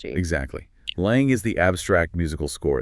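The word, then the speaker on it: langue: So lang first pronounced lang almost like song but with a soft nasal in okay lang what is it?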